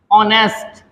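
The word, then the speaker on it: honest: तरीके से एच ओ एन ई एस टी ऑनेस्ट ईमानदार औरन मीस घंटा ईमानदार इसी तरीके से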